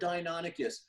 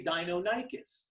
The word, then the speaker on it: Deinonychus: to like the word Deinonychus when it comes to dinosaurs some people pronounce names differently so there's nothing really that's wrong so some people say Deinonychus and some people say dino dicus right some people say